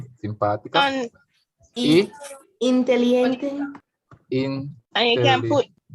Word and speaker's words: simpática: There's an accent on the simpática.